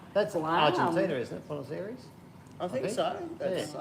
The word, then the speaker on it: Buenos Aires: Well, I've got to say, Bruno Ayres, is that a place? Bruno, is that, am I pronouncing that no. Buenos Aires.